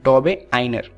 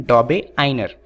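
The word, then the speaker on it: Döbereiner: तो इनका पूरा नाम है योहान वुल्फगांग डॉबेराइनर। दरअसल ये यूके की प्रोनाउंसिएशन है।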